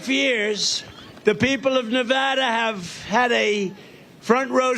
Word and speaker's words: Nevada: and you always have to say it correctly Nevada you got to call the with thousands of